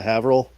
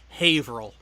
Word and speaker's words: Haverhill: say april uh yeah haverill have abraham god god gotta love the yanks then alan because it's actual official pronunciation is haverhill april the only reason